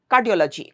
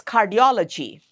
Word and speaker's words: cardiology: So it's cardiology, not flat like cardiology, cardiology. No, that would be wrong. It's cardiology.